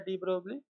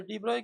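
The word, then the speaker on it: de Broglie: आगे साइंटिस्ट आएगा डी ब्रोगली, या उसे डी ब्रॉय कहते हैं, मगर स्पेलिंग कुछ ऐसी है।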